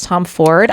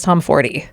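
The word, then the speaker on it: Tomforde: And yeah, the Smut Clurb is reading Play Along by Liz Tom Ford. I think we're saying her name wrong. I think it is Liz Tom Fordy.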